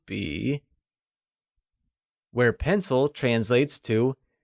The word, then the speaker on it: 笔: This is a pen translates to 这是支笔, where 笔 is pronounced using a falling, rising tone, meaning pen.